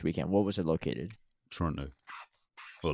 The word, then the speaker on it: Toronto: from Canada from Toronto you say Toronto without the te I have a whole